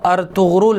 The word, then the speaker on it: ارطغرل: بعض علماء نے لکھا ہے کہ اس کا اصل تلفظ وہ ارطغرل ہے، یعنی ار اور تغرل، یہ ترکی زبان کا